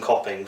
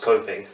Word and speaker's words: Copping: name is actually copping full name gopin that's j-a-s-o-n middle name a-n-d-r-e-w last name copping c-o double p i n g often pronounced coping special ones at school